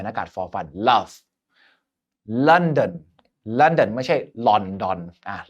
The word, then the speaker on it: London: เหมือน รอ เรียง แ อากาศ for ฟัน Love London London ไม่ ใช่ ลอ อ่ะ อนอ อัน นั้น แบบ ไทย นะ ครับ London สุด ท้าย mother mother mother นะ ครับ อ่า